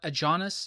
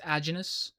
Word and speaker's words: Aajonus: That's another thing I've been mispronouncing his name. It's not a Jonas, it's agenous.